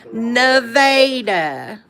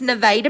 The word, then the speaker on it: Nevada: It's spelled like Nevada, but it's pronounced Those of us that are from Missouri, how do we pronounce this? Nevada. It's Nevada, Missouri.